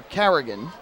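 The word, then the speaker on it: Carignan: That first N, though, is silent, so it's like it's not even there. Carrigan.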